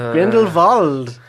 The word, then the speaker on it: Grindelwald: Because it's a W, but it's pronounced like a V. Grindelwald.